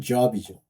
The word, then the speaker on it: Job: 그러나 여러분들 욥 있죠, 욥. 욥. 우리는 욥이라고 번역하는데 발음하는데 실제는 job이죠.